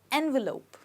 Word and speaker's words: envelope: called it's called as envelope envelope okay remember that the ending is not Lop but lope people often say envelope when it's supposed to be envelope okay now let's look